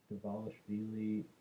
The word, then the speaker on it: Dvalishvili: Let me pronounce this right. Dvalishvili.